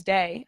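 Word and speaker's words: Dae: What made you choose Day, which is spelled D-A-E?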